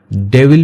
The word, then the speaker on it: Devil: डेविल पढ़ते हैं इसको, डेविल नहीं पढ़ेंगे, डेवल पढ़ेंगे इसको, ठीक है।